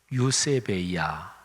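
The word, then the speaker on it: εὐσέβεια: 헬라어로 경건은 유세베이아 이렇게 발음합니다.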